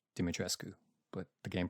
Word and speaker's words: Dimitrescu: game the game pronoun the game pronounces it uh domitress but i believe it's actually supposed to be dimitrescu but the game pronounces